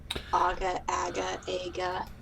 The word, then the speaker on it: Aga: Aga, Aggie. I have so many names for him. It's not even funny. Nice. Okay. Just to mention, it's pronounced like the stove.